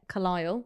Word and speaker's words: Carlisle: It's Car- lisle as in li-al-al cro- crocodile. Carlisle. Car-lisle. I just said it. Yeah, no, I just said Carlisle. It's just one one syllable.